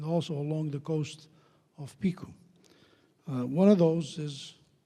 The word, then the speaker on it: Pico: Welcome everyone to the Echoes of Pico or Picu, that's actually the better pronunciation.